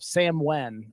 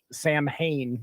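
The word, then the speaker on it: Samhain: Celtic holiday of of Sam Wen or it pronoun or it's pronounced that way but it looks like Sam Hayne when you look at that so Jud is can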